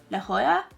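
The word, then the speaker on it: La Jolla: how you pronounce it it's LA and then j o l a like Jola but I think you pronounce it laa La Hoya La Hoya La Hoya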